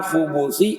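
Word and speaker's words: خبث: Wal khubus itu bidhammil kha wal ba, bacanya Sidin. Dengan dhammah kha-nya dan ba-nya.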